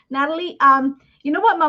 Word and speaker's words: Nathalie: Spanish I'm from Ecuador you don't pronounce the h the H is silent so it becomes Natalie so that's probably why